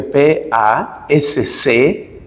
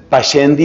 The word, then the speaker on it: Pascendi: Ese documento se conoce como Pascendi, que se escribe P-A-S-C-E-N-D-I, Pascendi.